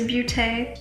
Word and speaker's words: Beauté: Ooh, and yes, it is Beauté. There's a little accent on the E.